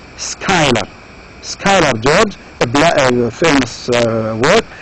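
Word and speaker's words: Schuyler: Again, this name is not easy to pronounce. You pronounce it as Skylar.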